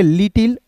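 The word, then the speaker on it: little: इ को दोस्तों पढ़ेंगे लिटिल ठीक है यहां देखिए एल I double T एल इ रहेगा तो इसे लिटिल नहीं पढ़िएगा इसे पढ़ेंगे दोस्तों लिटल ठीक है यहां पे आपको लिख लिखकर बता दे रहा हूं।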